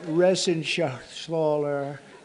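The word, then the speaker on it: Reschenthaler: thank you and Guy Ren Shaler you know that Ren Sher he's uh that's actually the way you pronounce it you know nobody else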